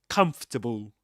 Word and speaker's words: comfortable: say comfortable, you say comfortable. Comfortable. this word just in case you've just joined this live stream and we discuss this uh at the very beginning. So this is comfortable. Comfortable three syllables comable and the same applies to this word vegetable.